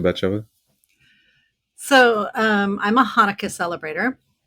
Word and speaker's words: Hanukkah: horn here so bachelor so um i'm a hanukkah celebrator it's actually pronounced hanukkah but i didn't want to put you all